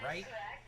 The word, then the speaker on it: Wright: Count is 0-1 on Radai, followed by Rodriguez and Wright. Triple R threat coming up. Although Wright doesn't have an R to begin his last name, it's pronounced with an R, so I'm going to call it the Triple R threat.